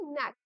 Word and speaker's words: knack: नैक. ठीक है? इट्स के silent here, it's not connect, it's के एन ए सी के, प्रोनाउंस्ड एज नैक.